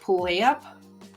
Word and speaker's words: Puyallup: I think it was Puyallup. So the first time I actually said it right.